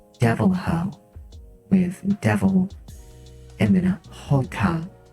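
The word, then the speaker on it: Deviljho: And for Monster Hunter, there's a creature called the Devil Joe. Only when I saw it, because I defaulted to Spanish, I started saying it Devil Ho with devil and then Hoka, H-O, so it's pronounced like Devil Ho.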